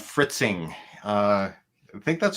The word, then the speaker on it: Fritzing: PCB design software do you use it's called fritzing Uh I think that's how you pronounced it f r i t z i